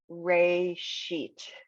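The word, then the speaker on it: ראשית: ray sheet. Perfect. And it's interesting, Ray She, just two quick syllables, but that Aleph is sitting in there for no reason. It's a silent letter.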